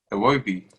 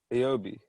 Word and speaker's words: Iwobi: Say it again. Iobi. Just say But W. Say a W Iwobi.